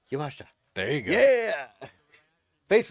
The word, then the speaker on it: Yamashita: Miyu And how do you pronounce that last name? Yamashita.